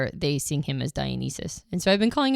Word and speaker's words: Dionysus: He didn't have the new YouTube pronunciations, and so I went back and I was like, oh, it's Dionysus. I've been saying it wrong the entire time.